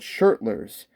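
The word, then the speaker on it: Schertler: these tuners are super cool i hope i pronounced them right they're called shirtless s-c-h-e-r-t-l and they're made in switzerland open gear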